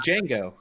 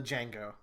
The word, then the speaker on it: Django: And Django. And Django, the Django. The D is silent.